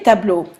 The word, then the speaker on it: tableaux: Notice that they're pronounced the exact same way. You do not pronounce the X, you do not pronounce the plural, but you pronounce le and les differently. Okay? Never pronounce the X for plurals.